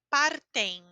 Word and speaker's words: partem: E aqui a pronúncia é partem. Porque mesmo que está ao final da palavra, não termina literalmente, certo? Tem uma letra depois. Então eu digo eles partem, normal.